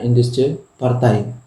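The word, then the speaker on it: Indische Partij: Partai. Tapi kita bacanya Indische Partai.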